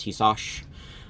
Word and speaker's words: Tisas: It's actually pronounced Tisas.